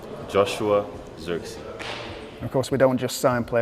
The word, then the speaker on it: Zirkzee: this is how you say my name Joshua xery of course we don't just sign players we